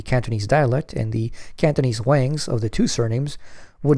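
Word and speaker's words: 王: dialect, and the Cantonese Wangs of the two surnames would not intermarry. However, the same two surnames in the Peking dialect are pronounced differently. One is Wang and the other is Huang, so that in the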